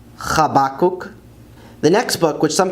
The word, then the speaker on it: חבקוק: Habakkuk is Chabakuk, Chabakuk. The next book, which some people pronounce as Zephaniah, is actually Tzefania in Hebrew, Tzefania.